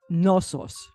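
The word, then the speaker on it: Knossos: oldest city in europe nosos is the name of that city does that start with a g actually starts with a k k crete was ruled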